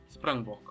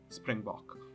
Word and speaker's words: Springbok: names answer Springbok war the full-on Afrikaans name Springbok although most people including myself sometimes just say Springbok just taking an English pronunciation to the off the